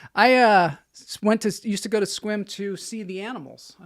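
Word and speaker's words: Sequim: Squim. Well, at least you know how to pronounce the names up there. In your 15 I learned years. finally. Not Sequium. You never said Sequium.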